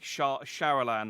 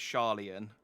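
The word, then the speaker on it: Sharlayan: Like, I think Sharalan I've been pronouncing, and it's Sharlian, for example.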